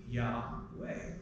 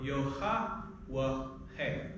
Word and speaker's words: Yahweh: These records indicate that in all likelihood the name should be pronounced Yahweh, or Yohawahe.